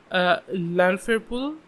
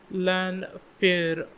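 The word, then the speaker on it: Llanfairpwll: Apparently the locals just call it Lanfairpul. So like the first three syllables, I guess. Lanfairpul.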